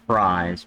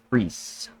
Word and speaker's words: Fries: lurine Lauren free um it's not fries because when you have the I and the E right there in German he pronounced the E now if it would have been e i you would have pronounced the long i but you pronounced the long e in this instance in German because it's free okay so Lawrence F